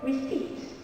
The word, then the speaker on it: receipt: Okay, the silent P in a famous word called receipt.